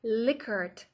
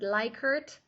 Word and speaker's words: Likert: Another type of closed-ended response format, very common also, is called Likert response format. Sometimes people pronounce it Likert. Both pronunciations are fine, whichever one you like better.